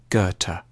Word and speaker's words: Goethe: supposed to say it a safe bet is to start with a hard G on ger and end with a Turk goethe johann wolfgang von goethe has often been seen